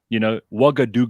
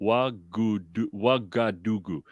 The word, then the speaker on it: Ouagadougou: Ouagadougou. Do you know how you spell that, by the way? No. Ougadougou. Ouagadougou.